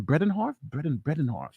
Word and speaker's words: Bredehoft: How do you pronounce her name? Bredehoft.